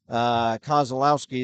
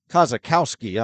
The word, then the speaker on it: Kozakowski: So he started the game, went out, and Adam Goad took his place, but then Kozlowski is back in. Kozakowski, I beg your pardon. I've been mispronouncing his name all evening.